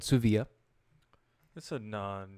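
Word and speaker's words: Dsuvia: new opiate it's called Sioux via listen on the D is silent there's a D in the name and the D is silent just so you know so it's called Sioux vo during the bill thank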